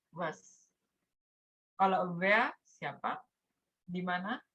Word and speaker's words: was: Kalau mau nanya apa, namanya was. Jangan lupa kalau W bacanya kayak V ya, kayak huruf V gitu. Kalau apa, bacanya was.